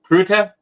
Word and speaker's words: Krutka: Krutka. Krutka. Krutka. Krutka. Yep. Krutka. You say it just like it's spelled.